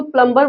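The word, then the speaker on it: plumber: अगर आप प्लंबर बोलते हैं तो भी ठीक है। अगर आप इसको प्लमबर बोलते हैं तो भी ठीक है। क्योंकि वर्ड में इंडियन जो प्रोनाउंसिएशन है उसको भी महत्व दिया गया है।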